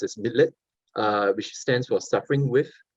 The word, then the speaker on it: Mitleid: And so to Schopenhauer, compassion, which is in German is pronounced as Mitleid, which stands for suffering with, it's the basis of morality.